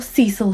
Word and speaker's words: Cecil: couple of weeks called the disappearance at cecil hotel or cecil hotel as they pronounce it they being americans